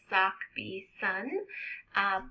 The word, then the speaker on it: Sockbeeson: Sockbeeson, and that's pronounced just like you see here, Sockbeeson, but Dr.